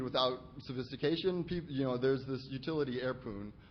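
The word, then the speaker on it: Airpwn: There's this utility airpoon, which I pronounce poon because there's no O in poon.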